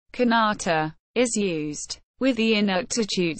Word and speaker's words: kanata: In Inuktitut, one of the official languages of the territory of Nunavut, the First Nations word, pronounced kanata, is used, with the Inuktitut syllabics.